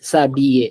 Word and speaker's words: s'habiller: Er ending verbs, का जो ending है, it's always pronounced as a in French. Okay, so we say a, s'habiller.